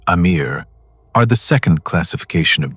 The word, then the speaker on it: Amir: The Amir, pronounced "A-meer", are the second classification of jinn and their name, translated from ancient Arabic, means something that should make you deeply uncomfortable.